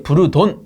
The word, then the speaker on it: 부르동관: 가지고 뭐가 맞습니까라고 말씀하시는데 둘 다 맞습니다 둘 다 맞아 이거 영어 발음이 그래서이 영어로 쓰게 되면 어 보자 b r t 해가지고 이게 부르돈 요렇게 부르긴 하는데 간혹 보면 이게 부르동관이라고 해서 이게 동관이 줄 아시는 분이 계세요 동관 아닙니다 그냥 부르돈이라는 개발자입니다 개발자 개발자